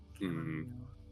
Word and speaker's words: chamomile: Yeah, I don't know why they put the H there. Oh, you know why? I think it's French. That's a French thing to do. Chamomile. Yeah, silent letters.